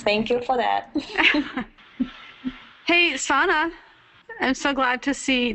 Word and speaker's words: Sana: Hey, Sana, I'm so glad to see that you've joined us. Now, am I pronouncing your name correctly?